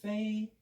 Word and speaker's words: 飞: 그래서 이제 페이. 우리는 F 발음 못하니까 B로 바뀐 거지. 페이.